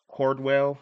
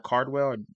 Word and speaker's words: Cardwell: I think his name was Dylan Cordwell. I want to say it right. Cardwell. Dylan Cardwell, I believe. So, I said that right.